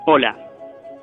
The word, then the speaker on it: hola: You say hola. Hola. Hola and not hola. Hola without H means wave. Spells different, but the pronunciation is exactly the same.